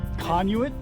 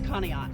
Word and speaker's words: Conneaut: fool of myself um trying to pronounce is it conuit oh it's conneaut oh kanye oh okay